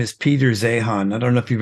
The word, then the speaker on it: Zeihan: His name is Peter Zehan. I don't know if you've ever heard of him. I have heard of him, and Zeihan. okay, I think he's pronounced Zane actually, but he's nailed it.